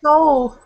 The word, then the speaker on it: Seoul: It's pronounced without... Seoul. Like that.